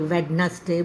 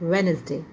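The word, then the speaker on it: Wednesday: meeting is ऑन वेडनेसडे इट्स नॉट वेडनेसडे इट्स वेनसडे वेनसडे okay D यहां पर आपका जो है साइलेंट है डी की प्रोनंसिएशन नहीं होगी यहां पर सो द वर्ड इज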